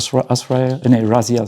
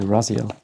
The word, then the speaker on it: Raziel: And this is a Ara Raziel. Sorry, Raziel.